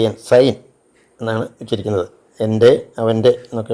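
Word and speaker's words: sein: ഐ N mine എന്നാണ് അതുപോലെ സി ഐ എൻ സൈൻ എന്നാണ് ഉച്ചരിക്കുന്നത് എന്റെ അവന്റെ എന്നൊക്കെ ഉള്ളതിന് ആ ഉച്ചാരണം വരും ഫോർ the letters E I combined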